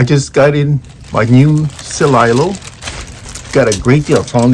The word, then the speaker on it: Celilo: It's Celilo, so it's pronounced Celilo, like C and then lying low. So and then lie like in lying, so Celilo, right?